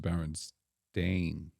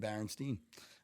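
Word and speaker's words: Berenstain: remember it being pronounced Baron stain so that I believe is the correct way that you pronounce it but I always remembered Baron Steen I remember the sweet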